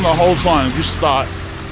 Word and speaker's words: Gstaad: the whole time just start it's it's just pronounced start but that start in